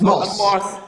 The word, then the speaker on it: Morse: I don't know the correct pronunciation. Anyone, native English speakers? Morse. Morse, thank you. It's Morse.